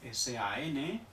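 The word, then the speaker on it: 三: Por ejemplo, S-A-N. Vamos a ponerle un tono tercero para que signifique 3 en chino. Se pronuncia san, san. ¿Fijáis en la S? San. Es igual que en español, por lo tanto, no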